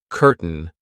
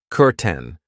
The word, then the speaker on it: curtain: I know it looks like curtain, but we pronounce it curten.